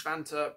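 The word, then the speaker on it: Vantaa: So that is Vanta, pronounced or spelled V-A-N-T-A-A.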